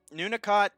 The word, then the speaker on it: Nunakot: It's so Nunakot is how it's pronounced, but he's switching his name to Snowflower because Nunakot is Snowflower in Korean, I believe.